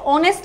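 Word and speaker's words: honest: কিন্তু একটা consonant letter কিন্তু তাও অনেস্ট রাইট অনেস্ট প্রনাউন্সিয়েশনটা কিন্তু আমরা এইটা কিন্তু সাইলেন্ট থাকে প্রনাউন্সিয়েশনটা হয়ে যায় অনেস্ট যেহেতু একটা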